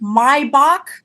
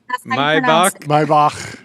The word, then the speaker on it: Maybach: matches uh the new mybach that I just bought. Did you know that's how you pronounce my Maybach? It's the my my right is outside